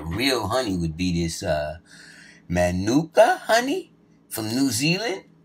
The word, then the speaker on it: Manuka: But the real honey would be this Manuka honey from New Zealand. I might not be saying it right. M-A-N-U-K-A. Manuka, right?